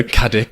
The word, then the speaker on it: Caddick: And he sent in last time and I pronounced his name wrong, so I promised him he'd be back on. So there you go, Caddick. Well I said done. Cadwick last time, I didn't even notice.